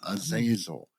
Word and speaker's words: Azazel: And one of the early candidates was Azazel. And I know a lot of people will say, oh, no, that's not how you say that name. It's Azazel.